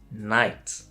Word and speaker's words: night: When K comes before the letter N, you don't say it. So it's not knie, it's knee. Not knife, it's knife. Not knight, it's night. Every single time you see